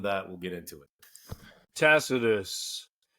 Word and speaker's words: Tacitus: Tacitus or Takitus as his Latin name would be pronounced.